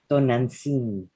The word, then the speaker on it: Tonantzin: Tonantzin.